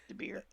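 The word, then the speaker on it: DeBoer: They fired their coach, hired how do you pronounce his name from the Sharks? DeBeer.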